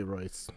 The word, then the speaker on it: Royce: I don't think do you pronounce it Royce or Hoist? I think they pronounce it Hoist. I think they pronounce it Hoist, but like I say Royce too because I don't care.